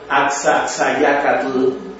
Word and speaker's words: Axaxayácatl: llama la atención el Axaxayácatl, y en el caso de la X se pronuncia como la SH del inglés o como la H del francés. Cualquiera de nosotros diría Axaxayácatl, así brincado, o dicen Popocatépetl, Iztaccíhuatl,